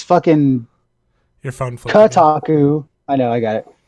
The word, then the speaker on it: Kotaku: Kotaku. TOT is spelled KOTAKU. Yeah, I don't think it's Tataku.